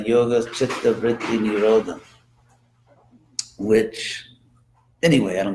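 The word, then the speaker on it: वृत्ति: And it's actually pronounced technically in Sanskrit, vritti.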